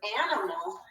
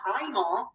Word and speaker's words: animal: an open syllable exception in the word animal the i in the middle of a word in an open syllable doesn't have the expected long i sound we don't say animal we say animal has more of an a sound and that's the open